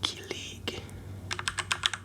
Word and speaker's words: kilig: Next up, I have kilig.